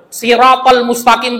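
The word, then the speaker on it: الصراط المستقيم: Siratal mustaqim pakai shad. Kalau bacanya pakai sya, siratal mustaqim, sirat itu artinya adalah gergaji besi.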